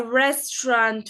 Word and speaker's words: restaurant: A restaurant for example in French we say a restaurant. Restaurant. And even though the word ends with a T, we do not pronounce the T.